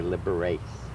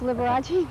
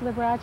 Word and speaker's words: Liberace: learn the right way i used to say liberates the way it sounds you know but in italian any any uh syllable that has a bowel in it is pronounced so it wasn't liberace